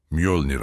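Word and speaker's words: Mjölnir: Mölnir diye okunur. Mölnir adının anlamı parçalayıcı olan kocaman bir çekiçtir.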